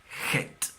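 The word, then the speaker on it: חטא: Pecado en hebreo se dice het.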